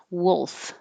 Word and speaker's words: wolf: let you know wolf this is a unusual combination first it has the vowel uh like took and good so your tongue's not too high it's a little lower than and the l doesn't have to be the clear perfect l up in the front my tongue tip can be down and the middle of the tongue comes up to touch the top of the mouth and that's a dark l mysterious dark wolf wolf